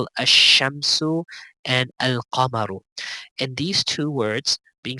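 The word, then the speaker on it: القمر: That whenever they have an alif lam before these letters that we just described, they will always pronounce alif lam. For example, al-abu, al-babu, al-jannatu, al-himaru, al-khubzu, al-ainu, al-ghada'u, al-famu, al-qamaru, الكلب الماء الولد الهواء اليد.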